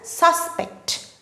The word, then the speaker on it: suspect: suspect SAS pet so when suspect is used as a noun the stress falls on the first syllable SAS it is pronounced as suspect suspect for example the